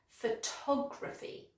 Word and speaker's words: photography: But with the other noun, the stress is on the second syllable, so it's very soft, photography, photography.